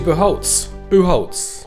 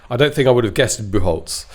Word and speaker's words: Bucholtz: Bucholtz. It's quite difficult. It's actually it's spelt Bucholtz.